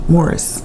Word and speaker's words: Maurice: Noticed on that, we watched the documentary, and their mom pronounces his name Morris. Yes. Yes. Although it looks like Maurice. Yes, Morris.